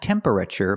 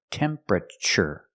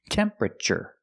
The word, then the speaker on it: temperature: temperature gauge pronunciation tempera not temperature but temperature the TU makes a CH sound like chicken temperaure remember it's three syllables temperature not temperature not four syllables but three temperature this is the temperature